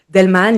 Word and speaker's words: Daelman: Delman, ça ne s'écrit pas comme ça se prononce, il y a un piège, un A avant le E. Delman, littéralement homme de la